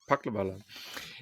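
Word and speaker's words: Palkhivala: Paklavala.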